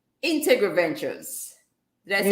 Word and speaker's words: Integriventures: You were Integriventures. yes, Ventures. 5 syllables. I know Integriventures. it's a mouthful. Yes, And Ventures. to think I practiced before I came. It's all right. So it's Integriventures.